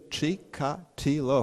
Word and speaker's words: Chikatilo: killer whose name is chick Attila and he is not of Spanish Spanish Jewish origin his Ukrainian Christian you see it's H sound chica tiller four syllables total coincidence because Chikatilo